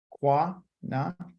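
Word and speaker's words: qina: q a I mean q-i-n-a quina okay or it could be qua na depends on how you say it or it could be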